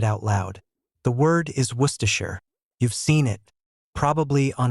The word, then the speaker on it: Worcestershire: If you try to say every part Worcestershire, you get four syllables. Some people add even more. Worcestershire, five syllables. The real pronunciation is Worcestershire, two syllables from 14 letters.